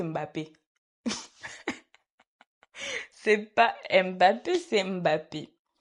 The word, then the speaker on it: Mbappé: De la même manière dont il prononce Mbappé, c'est pas Mbappé, c'est Mbappé.